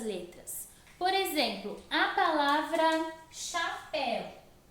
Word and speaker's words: chapéu: A palavra chapéu, ela possui o H depois do C e ela também muda por causa do H. Se o H não tivesse, nós pensarmos assim, não, o H não tem som, eu não vou colocar ele. Mas se eu não colocar, vai ficar capel, porque o C com A é K.